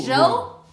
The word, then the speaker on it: 柔: The tongue goes up. The teeth is apart.